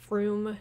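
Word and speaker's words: Frome: like froome yeah like you're not gonna know it's pronounced froome just by looking at it like that but to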